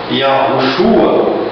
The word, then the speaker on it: Yahushua: Bom, para mim, pronunciar o nome do Salvador da humanidade, eu decidi pronunciá-lo desta forma. Iaoruxua, a forma que, devido às pesquisas que eu tenho feito, eu tenho achado mais coerência nela.